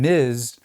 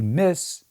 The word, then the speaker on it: Ms: How did we go from miz being the standard to miss being the default other than people wanting to annoy a certain geyser?